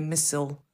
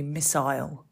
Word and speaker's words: missile: America you would hear missile if you were watching the news in Britain it would be missile that's it very different isn't it that is very different